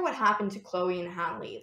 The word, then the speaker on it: Halle: While you were talking about Chloe and Halle, is that how you pronounce her name, Halle?